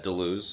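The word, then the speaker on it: Deleuze: another book called anti-oedipus by uh daluz and gutiari i think is how it's pronounced it goes during elite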